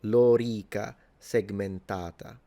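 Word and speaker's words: lorica segmentata: length, th this vowel the o and the e are both long. So it's lora and then segmentata. So this a is long. So, Lora Segmentata is how you pronounce it.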